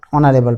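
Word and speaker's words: honorable: এখানে একটা শব্দ নিলাম, একাধিক শব্দ অনারেবল পারসন। এখানে অনারেবল পারসন, এখানেও সেম, এইচের উচ্চারণ হ দিয়ে শুরু না হয়ে হয়েছে স্বরেও দিয়ে, অনারেবল।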